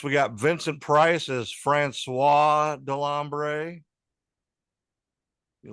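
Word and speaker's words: François: Next, we got Vincent Price as Francois Delambre. You like how I said Francois? Francois. Francois, you need to roll your R's, Bubba.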